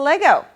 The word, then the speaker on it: Lego: Wait, Lego is both singular and plural. In fact, 98.3% of the people on planet Earth say it incorrectly by adding an S to Lego.